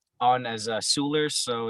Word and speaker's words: Seweller: ep is on um it's on as a sooler so it's spelled s-e-w-e-l-l-e-r um and that's out of the